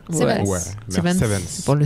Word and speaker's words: Seven's Garden: Exactement, Seven Garden. J'ai bien prononcé? Seven's.